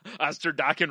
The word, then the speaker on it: Osterdokken: Oh, I was thinking of a terrible 80s band, but Osterdokken rhymes with rockin'.